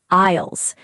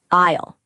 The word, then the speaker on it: aisle: They are called aisles. A-I-S-L-E. Aisle. Be careful, the S is silent. You say aisle, not isle. Aisle. The S is silent, like the word island.